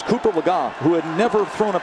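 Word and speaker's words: Cooper Legga: who was number three Cooper lagot and yes I know we pronounced the name earlier a different way but it's Cooper lagga who had never thrown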